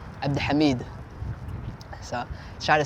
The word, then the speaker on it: Abdihamid: Not many people have the full name, and the real way to pronounce it in Somali is Abdihamid.